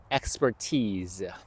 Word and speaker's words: expertise: 발음을 주의하세요. expertise.